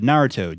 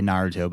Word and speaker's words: Naruto: before you know the series uh Naruto just ended oh yes or Naro depending on how you say it I know I think the anime purists say Naruto but anyway I was